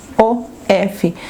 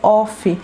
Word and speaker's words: of: Por exemplo, uma coisa que eu vejo muito que as pessoas falam errado é o of, O-F. A pronúncia certa é of e não off, não of, não of.